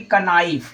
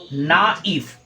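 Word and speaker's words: knife: आई एफ ई कनाइव तो ये आपका बिल्कुल ही गलत अगर पढ़ेंगे तो सही क्या होगा दोस्त तो सही होगा अगर आप इसको लिखेंगे ना इफ क्या लिखेंगे आप ना इफ नाइफ अगर लिखेंगे तो आपका ये बिल्कुल ही सही होगा क्योंकि यहां के जो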